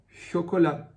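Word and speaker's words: chocolat: exemplo na palavra chocolá chocolá você percebe que o t também não é pronunciado no final e chocolá você pode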